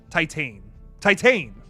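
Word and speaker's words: Titane: Titan. So it's not like tit. It's not tit, it's Titan.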